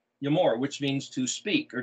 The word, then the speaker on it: Emor: So this word that they spell in English, E-M-O-R, is their pronunciation with English letters, transliteration of the word Yod Aleph Mem Resh, Yamor, which means to speak or declare.